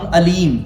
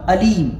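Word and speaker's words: أليم: ایک ہے علیم، علیم عین سے، ایک ہے علیم الف سے. وَلَهُمْ عَذَابٌ علیم، یعنی ان کے لیے دردناک عذاب ہے.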